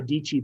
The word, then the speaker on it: Dietschy: I was watching Sarah Dietschy there, rhymes with Peachy.